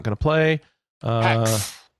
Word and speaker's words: HAEX: Hex. It's being pronounced Hex.